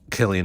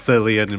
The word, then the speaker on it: Cillian: Insidious and of course Killian Murphy is that how you pronounce his name it is I never knew that I've always pronounced it as sillian Murphy Oh no no he's Killian yeah they call him kill